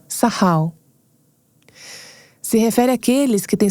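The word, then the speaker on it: sakal: não tenho sotaque hebraico soua como sahal se escreve sacal S A K A L mas aparentemente é pronunciado sahal se refere aqueles que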